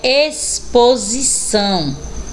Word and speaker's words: exposição: é KS Ok e a próxima é exposição Olha aí o x com som do S né de um esse